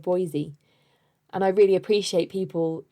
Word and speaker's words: Boise: last episode for example i said boys instead of boise and i really appreciate